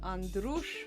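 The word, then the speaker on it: Andruș: donkey spray right right my maiden name is Andrus that's a-n-d-r-u-s with a little comma underneath that makes it a shoe all right so it's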